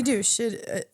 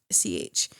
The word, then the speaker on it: Deutch: No, Zoe Douche. It's Deutch. So basically, she's in Not Okay, Buffaloed. I don't know if you've seen that. Zombieland. Yes, it's pronounced Deutsch.